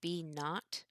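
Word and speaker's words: B₀: the constant this B sub 0 which is pronounced B naught that is our constant what this really is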